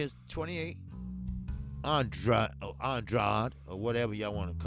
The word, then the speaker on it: Andrade: Now, Andre is 28. Andrade, or whatever y'all want to call it.